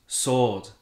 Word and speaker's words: sword: ça se prononce torque le w de ce mot là quand j'entends mes youtuber gaming préféré parler de récupérer la master sword dans zelda breath of the wild ça se prononce soro est bien lorsqu'un cas